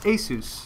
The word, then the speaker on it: Asus: to the pronunciation and they said it's Asus and it has been that way ever since um so yeah that's